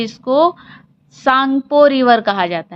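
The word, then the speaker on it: Tsangpo: है, जहाँ पे इसको सांगपो रिवर कहा जाता है। क्या कहा जाता है? सांगपो। सांगपो, टी साइलेंट होता है।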